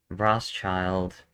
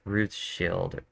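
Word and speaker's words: Rothschild: you got to think like I said before rosch child is not the way I pronounce it it's Ruth Shield the old German word for red was Ruth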